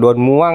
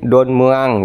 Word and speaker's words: Don Mueang: e Thailand kami pronunciation-nya Don Muang itu bukan Don Muang ya tapi Don meang gitu Jadi yang muncul bukan vokal u tapi justru e seperti kata Bekasi lah Don meang gitu tapi